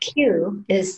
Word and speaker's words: qi: I don't think I would have put in K, but Q is the conventional spelling of Qigong. So Q-I is pronounced Qi.